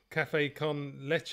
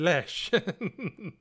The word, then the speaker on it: café con leche: Yeah, I think I've got my wife to thank, because she last week she said it's leche because I said lesh.